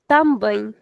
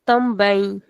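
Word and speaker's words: também: If we did not have an accent here, we would say tamb. But it's not the sound. It is tumb.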